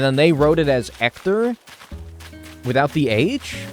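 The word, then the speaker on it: Héctor: my name as actor because the H is silent in Spanish very understandable mistake to make then right if you say hello my name is ector I would like a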